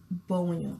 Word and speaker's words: Gbewonyo: Gbewonyo. Yes. I think it's a W that throws me in the name. Because I'm used to silent letters. And I'm thinking, is that silent? Is that not?